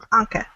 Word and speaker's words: Anca: How do you pronounce her name? Anca.